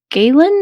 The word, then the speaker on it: Galen: Is it Parth Galen, or how do you pronounce that?